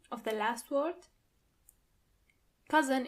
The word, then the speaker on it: Cousin: Cousin in plural, you have to add a French pronunciation to it.